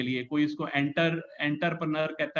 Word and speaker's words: entrepreneur: कोई इसको एंटरप्रेन्योर कहता है, कोई कहता है इसको एंट्रीप्रेन्योर, कोई कहता है. सो एग्जैक्टली इसकी pronunciation is a French pronunciation, so it's difficult to pronounce, but इट इज एंट्रप्रेन्योर because ये आपका सपना है बनने का.